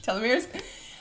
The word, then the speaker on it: telomeres: premature aging it's shortening your uh telomeres telomeres that's how you pronounce it telomeres um which is shortening